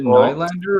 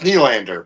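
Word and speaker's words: Nylander: Is it Nander or Knander? It's Knander, but consider the source.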